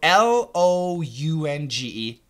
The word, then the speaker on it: lounge: they're all different so l o u n g e Lounge ow ow Lounge Lounge l a u n c h law a a w so Lounge was an o w law is an A